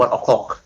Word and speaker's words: ONE OK ROCK: Kalau untuk sekarang orang pada bilangnya One Ok Rock sih, tapi sebenarnya kalau pronounce yang benar tuh One O'clock.